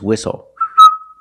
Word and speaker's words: whistle: We also see the silent T when you have the spelling pattern S-T-L-E. Like these words, whistle, castle, and hustle. The T is silent with the spelling pattern S-T-L-E. Example, this is a castle.